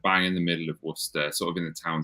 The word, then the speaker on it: Worcester: Worcester. You're from? Like Worcester sauce.